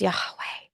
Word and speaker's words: Yahweh: Greek Theology of that if you say it correctly it sounds like breath so it's yahe it's a breathing in and out yeah I'm just saying